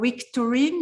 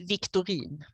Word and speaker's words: Wictorin: hello michael victorine is this how you say your name yeah in swedish it's victory victory so almost right victory yeah so uh